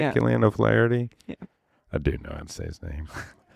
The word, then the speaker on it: Killian O'Flaherty: Killian O'Flaherty?